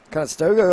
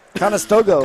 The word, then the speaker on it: Conestoga: bha couple canadians sammy from montreal grant from conestoga ontario they got quebec and ontario battling battle of the provinces in that tonight thank you for pronouncing how do you say it conestoga conestoga all right as they resurfaced the ice